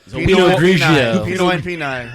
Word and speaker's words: Pinot Grigio: Pinot Grillo. Right. So Pinot Pinot Grigio.